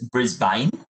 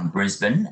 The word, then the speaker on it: Brisbane: So tell us a little bit about Brisbane and what is the River City? So Brisbane, a lot of people think of Brisbane, they think of the name, it's Brisbane.